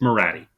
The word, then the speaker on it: Minotti: I said Minotti. It's Minotti. Thank you, Illuminati.